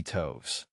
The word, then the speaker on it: toves: how to pronounce slithy toves. The I in slithy is long, as in writhe, and toves is pronounced so as to rhyme with groves.